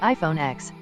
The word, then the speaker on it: iPhone X: 10 Apple's iPhone 8 was followed by the iPhone X pronounced 10 but Samsung refused to follow the successor